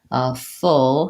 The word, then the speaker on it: full: word full as well full has the Wow as in good book and it rhymes with words like pull and bull let's see a few